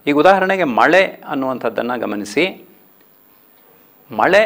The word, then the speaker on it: ಮಳೆ: ಮಳೆ ಅನ್ನುವಂಥದ್ದು ತಮಿಳಿನಲ್ಲಿ ಮಳೆ ಅಂತಲೇ ಹೇಳ್ತಾರೆ. ಆ ಮಳೆ ಅಂತ ಹೇಳುವಾಗ ನಿಮಗೆ ಅದು ಉಚ್ಚಾರ ಬೇರೆಯಾಗಿರೋದನ್ನು ಗಮನಿಸ್ಕೊಳ್ಳಿ.